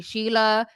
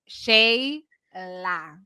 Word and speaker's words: Shayla: A lot of people mispronounce it and call me Sheila because of the SHE. It's Shayla, not Sheila.